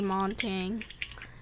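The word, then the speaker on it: Montagne: How do you actually say his name? Montang. Could that be what you call Monty? Yeah, it also depends on how your accent is.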